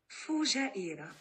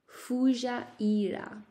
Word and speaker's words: Fujairah: And in Arabic, it's pronounced Fujairah. Fujairah, Fujairah.